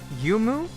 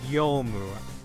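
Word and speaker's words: Youmu: I pronounce your name as Yumu, but it's Yomu.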